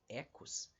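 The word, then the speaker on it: οἶκος: a primeira palavra aqui que se escreve desse jeito, oikos, mas que a gente lê na verdade em grego como ecos, e a palavra logos.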